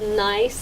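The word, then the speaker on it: Gneiss: Anyway, this is called Nice Apparel. And nice is spelled G N E I S S cuz that's a kind of rock you encounter when you're climbing or hiking.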